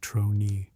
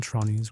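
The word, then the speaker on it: tronie: It is pronounced something like trroni and it means in Dutch simply face or more precisely facial expression the look on a face.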